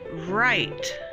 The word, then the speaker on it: right: it's a bee hive next we have the word with long i and silent gh and to pronounce this word is right right next the word